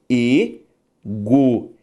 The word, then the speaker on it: egoísmo: Ao fazer a separação de egoísmo, eu tenho egoísmo. A sílaba tônica é a penúltima.